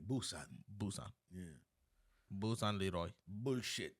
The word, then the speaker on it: Busan: Some people Boo or Poo? It's spelled with a P, but they say Busan.